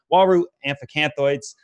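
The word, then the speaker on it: Uaru amphiacanthoides: I look over at my Waru tank, which was a South American cichlid Waru amphicanthoids. That's how you pronounce it.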